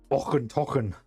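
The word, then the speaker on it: Auchentoshan: Ochen tochen. Actually, the thing is, actually, it says how it is pronounced on the back. Ochen toschen. There you go. Och un toschen.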